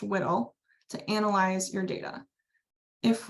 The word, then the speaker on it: WDL: This is going to be where you can find and configure workflows that are written in the workflow description language, or WDL, pronounced WDL, to analyze your data.